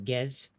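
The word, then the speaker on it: Pgez: Well, Gez, spelled with the P.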